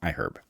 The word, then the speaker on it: iHerb: Yep, you pronounce the H in iHerb.